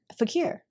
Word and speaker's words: Fequiere: Fequiere.